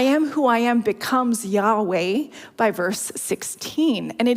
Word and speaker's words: Yahweh: doesn't contain vowels and the true pronunciation of the name has been a mystery for centuries so let that sink in though more recent scholarship does suggest Yahweh is correct now you may know